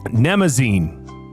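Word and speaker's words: Mnemosyne: Don't do it. It's a trick. There's a silent letter at the start of it. It's got to be a P. M. Mhm. Nemesis.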